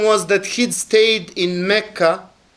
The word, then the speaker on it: Mecca: that he' stayed in Mecca which we pronounce in Arabic mecah he' stayed 10 or